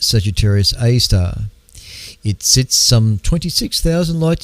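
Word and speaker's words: Sagittarius A*: The first observations of this bizarre object came 3 years later, called Sagittarius A, or pronounced Sagittarius A star.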